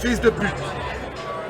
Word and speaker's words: fils de pute: Fils de pute. Whoa, what? Fils de pute. Feast the poo.